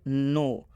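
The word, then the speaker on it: know: डब आया है और जब भी ओ के बाद से डब्लू आएगा तो इस ओ का उच्चारण ओ की मात्रा से हो जाएगा यानी नौ में जब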